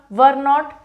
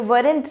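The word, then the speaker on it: weren't: Next है आपका वर नॉट, वरन, वरन होगा, ठीक है, वरेंट नहीं, वरन, प्रोनाउंसिएशन इसका ये है।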